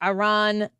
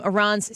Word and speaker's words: Iran: by a reporter for Iran from Iran's state media. Listen to this. You say you support the Iranian people, but you're pronouncing our country's name wrong Our country is named Iran, not Iran.